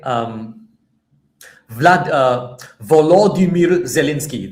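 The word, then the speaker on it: Volodymyr Zelenskyy: Um Vlad uh Volimeir Zalinski. That is his name in Ukrainian because he's Ukrainian, right? However, do you know what they call Vimeir Zalinski in Russia? They call him Vladimir Zalinski.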